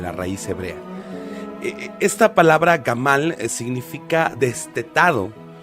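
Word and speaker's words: גמל: maduración y culminación y la palabra es gamal con acento en la segunda a una palabra que su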